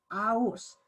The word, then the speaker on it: आओस्: त्यस्तै अर्को हेर्नुहोस् आओस्, हेर्नुहोस् आओस् आओस् हो, यो आओस् भनेर यसलाई हामीले के गरेका छौँ, उच्चारण गरेका छौँ। आओस् यहाँ उच्चारण गर्दा चाहिँ स अन्त्यमा साइलेन्ट हुन्छ।